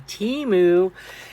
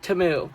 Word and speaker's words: Temu: Did you guys know that it's actually called timu? Like really pronounce timu, but you know, us Americans have to like pronounce it how we want to. So, it's timu. Timu.